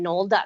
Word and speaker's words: Knoll: to my website sunshine Knoll calm and it's no less spelled with a k like a gret like the grassy knoll yeah sunshine Knoll calm